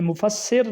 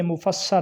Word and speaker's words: مفسر: بولا جاتا ہے مفسر۔ یہ مفسر نہیں ہے، یہ مفسر ہے، یعنی سین کے اوپر زبر، مفسر، ظاہر، نص، مفسر،